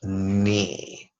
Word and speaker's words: ni: going to play with a syllable knee which sounds a lot like the joints between your thigh and your calves me and yes if